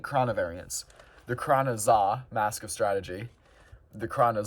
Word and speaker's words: Xa: The Krana Za, Mask of Strategy. The Krana Za, Mask of Telepathy. Yeah, so there are 2 called the Za. One spelled XA, one spelled ZA. They're pronounced the same, which is terrible from a conversational standpoint.